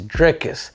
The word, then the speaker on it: Dricus: to go with drias I us should call him draus but apparently it's dricus and everybody doesn't tell nobody kind of corrects uh anybody but it is drick is dup plus c with a silent s but without further Ado